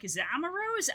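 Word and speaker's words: Amaurot: Which is why for a long time I was like, is it Amaro? Is it Amarot? Don't know. But nah. Don't pronounce the T.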